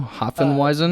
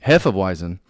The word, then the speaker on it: Hefeweizen: Hopfenweizen? That's a Hefeweizen? Hefeweizen.